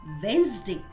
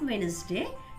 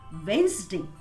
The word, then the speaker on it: Wednesday: But the correct pronunciation of this word is Wednesday. It's not Wednesday, but it's Wednesday, Budhvar.